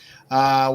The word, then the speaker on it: Toth: Thank you for the pronunciation there. Alex Toth. There you go. Toth.